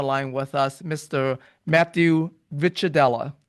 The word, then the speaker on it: Ricciardella: Matthew Vitadella. I hope I pronounced your last name correctly there. You did a great job. Good pronunciation.